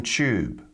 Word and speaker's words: Tube: Australian English forunate opportunity so whenever you see a tu like that you can pronounce them as a CH sound so these different words sound like fortunate opportunity actual the London Tube YouTube now this is